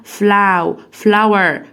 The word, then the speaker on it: flower: تاني بنكرر حرف الاو لما يجي وراه الدبليو يبقى اسمها أو، يبقى flower flowers flowers.